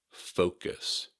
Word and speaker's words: focus: Just be sure to say focus with an O sound and not an sound.